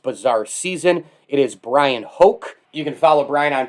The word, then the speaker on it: Hoch: season it is brian hoke you can follow brian on twitter brian hoke that's at b-r-y-a-n-h-o-c-h as he says in the twitter timeline rhymes with coke of course brian welcome